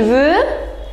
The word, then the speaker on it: veut: Okay, so je veux, tu veux, il veut, elle veut. Remember, we don't pronounce X, X, T, T. We don't pronounce them.